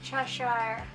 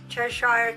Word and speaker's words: Cheshire: church tire right kelsey churchill how do you pronounce it cheshire cheshire cat okay and now we're gonna use this